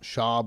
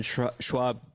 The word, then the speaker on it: Schaub: See the Brendan Schwab, I keep saying his name wrong. It's Schaub.